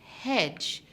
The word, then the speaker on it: hedge: Now, other than the word wedge, we can also have the word hedge, which would also have the silent D.